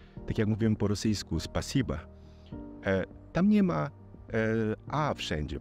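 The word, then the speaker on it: спасибо: Tak jak mówimy po rosyjsku, spasiba. Tam nie ma a wszędzie, prawda? Natomiast jest to nieakcentowane a, które wymawiamy jako a, tak naprawdę to jest o w pisowni, prawda?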